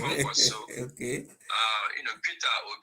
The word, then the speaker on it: Kwankwaso: You talk about Kwankwaso, although you didn't spell it well, you say OKWANKWASO, and then it's Kwankwaso.